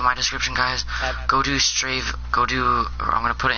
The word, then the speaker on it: Strave: Go do Strave, or I'm gonna put it in the comments. Strave raid. Strave. Okay, Strave.